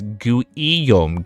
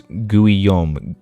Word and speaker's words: Guam: Guam is pronounced as guom. Gui guom. I was thinking of like like you know how like gumo del Toro like I was like gu. Okay. So it's guom guom.